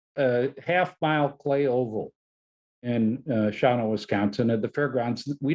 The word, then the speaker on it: Shawano: from my days in Shawano, Wisconsin, not spelled like it sounds, named Dick Karth.